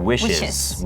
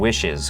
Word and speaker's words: wishes: คะ อ่า สังเกต ครับ คำ ว่า wish นะ ครับ เติม es ก็ เติม พยาง ด้วย wishes wishes ก็ จะ เหมือน เติม wishes wishes โอ่า I receive ก็